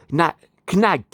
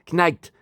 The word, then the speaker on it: Knight: Knight, hein, Knight, comme le chevalier, hein, avec un K, mais le K ne se prononce pas en anglais, ont disparu de ma vie.